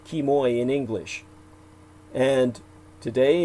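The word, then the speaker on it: Quemoy: this unless you look up kimoy and matsu kimoy is spelled q-u-e-m-o-y because kinman today was formerly called kimoy in english and today it's a popular tourist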